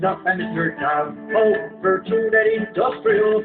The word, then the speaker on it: Virtute et Industria: Because we natives do pronounce it Virtute et Industrial.